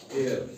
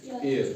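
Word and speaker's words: heir: pronounce नहीं किया जाएगा एच ई आई आर हेयर इसको क्या पढ़ते हैं कुछ इसको हियर पढ़ते हैं लेकिन हेयर नहीं है ये ये है एयर क्या है ई आई आर एयर ठीक है को साइलेंट ने देना है रूल नंबर सेकंड है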